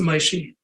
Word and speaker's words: Moshe: way you like it I pronounce it my she is yes okay like m-o-i-s-h-e would be Moishy okay great and please